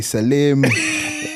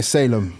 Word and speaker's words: Salem: Some people don't know how to pronounce it. They say Salem, all of that stuff. But yeah, Salem.